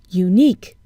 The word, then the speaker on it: unique: on the beginning sound unique we see a you but we hear a consonant sound U so what do